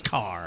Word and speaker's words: Kerr: I want to say Kerr. Well, it's spelled Kerr. It's spelled like a Victor, but it's Carr.